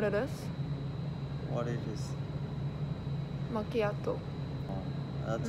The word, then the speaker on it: Macchiato: Macchiato. That's how you pronounce it.